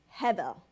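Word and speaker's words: הֶבֶל: Bible as vanity is Hebel Heather it's actually pronounced more with like a V but it's Heather it's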